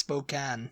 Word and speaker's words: Spokane: I don't know but next one is Spokane yeah it's Spokan Spokane no it's Spokan Spokan yeah isn't it right I'm sure that was what that was what the thing I Spokane I I have always said spok I've never been there so it's in Washington Spate uh Spokane I used to say Spokane because you know Spokane Spokane